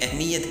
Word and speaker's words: اہم: گے، اہم اور اہمیت۔ اہم صحیح تلفظ اس کا ہوگا اہم، اور اہمیت کا صحیح تلفظ اہمیت ہوگا۔ پھر ایک اور لفظ